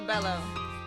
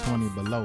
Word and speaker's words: 20 Bello: I was battling first, and it was supposed to have been pronounced 20 below, like 20 below freezing, like cold.